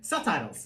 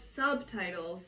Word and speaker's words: subtitles: B is silent okay so it will be subtitles no it's subtitles that's an exception an exception yeah like